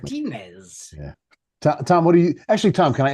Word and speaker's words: Martinez: Say it properly, Mike. Martinez, not Martinez. Say it like an Englishman. Martinez.